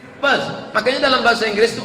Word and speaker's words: Perth: I am going to Perth. Bukan pes, kalau pes penyakit. Perth.